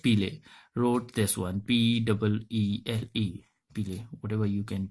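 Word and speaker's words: Peele: Okay, Kid, Nash, Lily, Pele, Green, Marlowe.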